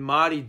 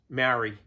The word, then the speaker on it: Māori: properly is that when Māori don't say things properly, they don't pronounce things properly. So things like Māori who say Maori, because the Maori down the road.